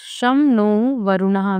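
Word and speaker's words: शं नो वरुणः: द एंबलेम ऑफ़ the Indian navy contain मोटो शम नो वरुणा pronounce शम नो वरुणा which means B auspicious to अस।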